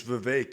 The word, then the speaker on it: Vivek: It's Vivek. It rhymes with Kate.